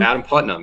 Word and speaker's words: Adam Putnam: election wasn't that adam putnam is how you pronounce his name adam putnam yeah and he's just a typical good old